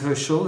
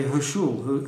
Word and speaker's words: Herschel: My surname is Herschel, and a French person pronouncing it will say Herschel. It even sounds a bit weird like that.